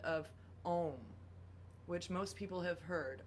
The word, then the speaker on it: Aum: And so when we sound a sound like the primordial sound of Om, which most people have heard, OM, or AUM, if we're Aum, would be how it's pronounced in Sanskrit, the sacred language of yoga in India and Eastern tradition.